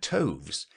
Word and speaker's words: toves: as in writhe and toves is pronounced so as to rhyme with groves again the first o